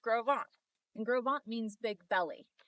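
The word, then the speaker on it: Gros Ventre: This is pronounced groant and grovant means big belly.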